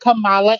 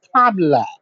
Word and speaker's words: Kamala: Her name is not Kamala, and you know that. Her name is Kamala.